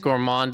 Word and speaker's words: gourmand: Gourmand does not rhyme with grand.